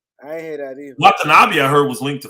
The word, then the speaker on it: Watanabe: Well, Watanabe. What's his first name? Watanabe. Yeah, Watanabe. Brooklyn. I haven't heard him being linked to either one of them guys, honestly. I ain't hear that either. Watanabe, I heard, was linked to Phoenix.